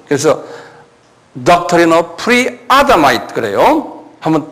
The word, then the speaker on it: Pre-Adamite: 그래서 Doctrine of Pre-Adamite, 액센트가 아다마이, 액센트가 아야 있어요. 그래서 Doctrine of Pre-Adamite 그래요.